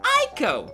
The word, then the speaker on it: Ico: it is spelled eco you were to replace the e with an eye you pronounced the word Aiko oh my god good